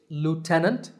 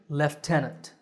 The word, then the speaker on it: lieutenant: it is lieutenant so in american english it's lieutenant and in british english lieutenant the second military word is this one it's